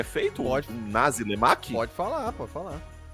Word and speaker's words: nasi lemak: E o nome, a pronúncia talvez seja estranha, mas é isso, tá? É nasi lemak.